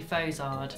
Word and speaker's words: Fozard: Also, not how you pronounce it though. No, because it's actually Fozard.